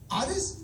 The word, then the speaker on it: Adis: Adis? Yeah. Is that a very Bosnian name? Yes. How do you spell it?